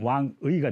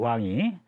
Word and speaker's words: 왕이: 발음할 때는 의로 발음이 되는데 중국어 발음으로, 우리 발음으로는 왕의가 되겠습니다. 그죠? 그래서 여기서 발음으로 나온 거예요. 왕이.